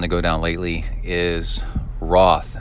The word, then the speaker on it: Roth: In the racing world, the biggest triathon to go down lately is Roth. And I believe they pronounce it rot.